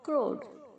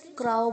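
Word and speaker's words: crow: बहुत सारे बच्चे इसे क्राउ बोलते हैं, क्राउ नहीं है, क्रो, क्रोड, क्रोड।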